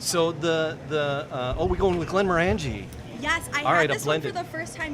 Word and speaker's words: Glenmorangie: 1.5 ounces of Glenmorangie.